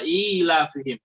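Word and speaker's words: إيلافهم: huruf ya' sama sekali tapi ia diucapkan ketika kita membaca ilafihim ya pasti kita membacanya dengan mad ya padahal disitu tidak ada huruf ya Jadi ia termasuk huruf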